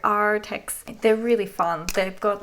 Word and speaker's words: Arrtx: They have double R, so I pronounce it like a pirate. Arrtx.